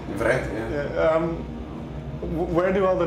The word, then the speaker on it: Vreth: Well, what I wonder is, your nickname is, I don't know how to pronounce it, but Vreth. Vreth, yeah.